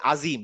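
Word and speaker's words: عظيم: লাগে না তাই না আপনি যদি বলেন আজিম আপনার জীব কি দাঁতে লাগে আজিম লাগে না কিন্তু এইটা উচ্চারণ করার জন্য জীবটা দাঁতে লাগবে সুবহানা রাব্বিল আজিম আজিম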